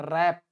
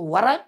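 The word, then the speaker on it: wrap: लपेटना, लपेटना का कई होता है, लेकिन इसको हम लोग रैप अप करेंगे, रैप, रैप माने भी लपेटना, इसको साइलेंट है डब्लू, तो वरैप वरैप मत पड़ेगा, रैप।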